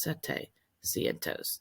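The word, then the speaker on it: setecientos: And then instead of saying siete cientos, it's sete cientos. Take out that I.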